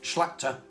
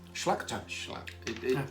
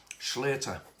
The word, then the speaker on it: Schlachter: Do you know, I couldn't pronounce his surname. Schlachter. It doesn't, the way it's wrote, it doesn't look like that, does it? Do you know how I thought it would be pronounced in the UK? Schlater. Right. I really thought he was going to say, I'm Jeff Schlater, and I thought, oh, I'm right, but he said Schlachter, and I thought, oh,